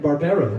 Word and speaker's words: Barbero: Lisa Shipp, Barbero, right? Barbero, yes.